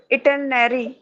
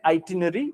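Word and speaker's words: itinerary: with the right pronunciation हम लोग गलती में इसको बोलते हैं आटन गलत बोलते हैं इसको आनरी इसको आटन नहीं पढ़ना है इसको बोलना है आइरी आ इटनरी इसमें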